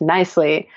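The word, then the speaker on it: Knisely: lui and it's pronounced nicely the silent K really throws people off so you can also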